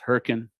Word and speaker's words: Hurricane: Those of you who've never been Southern Utah Mormons, Hurricane, spelled hurricane, but but it's pronounced Hurricane.